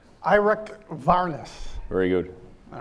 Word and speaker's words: Eirik Wærness: We're really delighted today to have, and I'm going to try this in the Norwegian pronunciation, Eirik Wærness.